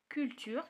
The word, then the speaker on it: culture: culture كتقرا ك.